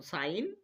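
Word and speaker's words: sign: রিজাইন rain net foreign প্রত্যেকটা উদাহরণের এর মধ্যেই দেখো আমরা জি এর পরে এন বর্ণরা জি এর পরে এন বর্ণটা খুঁজে পাচ্ছি। এইজন্য জি কে সাইলেন্ট রাখতে হবে। অর্থাৎ জি এর উচ্চারণ করা চলবে না।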